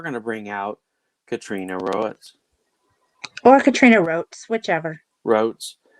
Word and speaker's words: Roets: well i mean it's it's spelled like poet so that's why it is row it so whatever wrote right